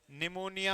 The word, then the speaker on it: pneumonia: निमोनिया आपका है, P is silent hair, PNEUMONIA, ये होता है निमोनिया।